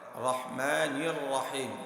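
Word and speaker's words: الرحمن الرحيم: এখানেও মিমের মাখরাজ এ বিষয়টা খেয়াল করবেন তাহলে রহমানির রাহিম আউজুবিল্লাহি মিনাশ শাইতানির রাজিম বিসমিল্লাহির রাহমানির রাহিম দুইটা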